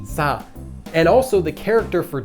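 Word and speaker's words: 四: death this is because the number four written in Chinese is pronounced sa and also the character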